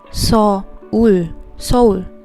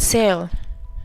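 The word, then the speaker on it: Seoul: syllables is pronounced as soul is is actually pronounced as soul when you put it together it's called soul soul not cell as you guys can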